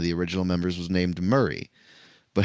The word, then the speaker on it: Murray: original members was named Murray, but how they say it naturally to them is Murray in their Aussie twang, you know. So I was always confused, like is it Murray or Mary?